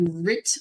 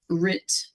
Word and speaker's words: writ: will get what's called a RIT of possession writ which is spelled wri t of possession like the oldfashioned right of possession so a